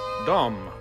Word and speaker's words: Domme: later cave dwellers lived in the middle dumb rhymes with view from and that is its attraction